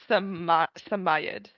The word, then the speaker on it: Samoyed: That's the only pronunciation they give in British English. Samayed Somayad.